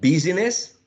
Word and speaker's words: business: five syllabes right the next one is it business business business business right business two syllables the next word some speakers use three